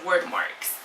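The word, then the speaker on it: Wyrdmarks: the back of this there's like a way to pronounce things says it should be word and word marks so the word marks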